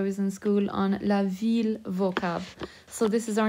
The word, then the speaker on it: ville: or the city okay so la ville it isn't often that we pronounce the double l in french but we do here okay so i'm going